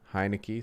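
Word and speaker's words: Heinicke: how to say his last name taylor heineke heineke thank you alex smith was five and one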